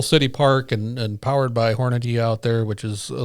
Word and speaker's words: Hornady: Hornaday I'm sorry. Hornaday. You had it's one of those things that that, I have been told how to mispronounce that two different ways. And I know how to pronounce it, but I always make the mistake.